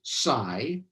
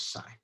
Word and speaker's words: psi: x and t and american physicists pronounce this greek letter as psy i have no idea what greek people actually say but american physicists say it as psy um okay so um